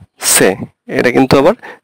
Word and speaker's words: Ce: তো এই বিষয়গুলো আপনার ভালোভাবে পর্যবেক্ষণ করতে হবে, যেখানে আপনার যদি শেষে বা মাঝখানে এইচ থাকে তো এইচ এর উচ্চারণটা আসলে উচ্চ থাকে। তাহলে আ বে সে, এটা কিন্তু আবার টি সে হবে না, ঠিক আছে?